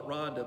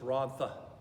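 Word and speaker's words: Rhondda: and then rhonda h-r-o-n-d-d-a we call it rhonda but actually in welsh it's ron tha so the tune title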